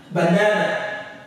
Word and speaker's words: banana: And then we have banana. Banana. Banana. The na is the stressed syllable.